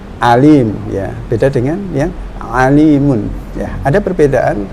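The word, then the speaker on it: عليم: Contoh ya, misalnya Allah berfirman ya, kata alimun ya, kata alimun ya, di Al-Qur'an itu ada alimun pakai ain ya, alim ya, innallaha alimun misalnya.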